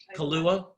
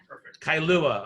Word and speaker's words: Kailua: the Island of Hawaii how do you say this name here Kahlua Kailua all right so it sounds like the alcohol for me but anyway so urgent